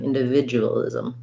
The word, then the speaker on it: individualism: a syllabic n individualism i'll still write it as a vid because you kind of think of that word video that can help you individualism individualism um so this jew will might get reduced to individualism where we would kind of leave that ooh sound off so it would be